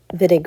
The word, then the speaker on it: Wittig: Hello, today we're going to talk about the Wittig reaction. So, the pronunciation here is a V.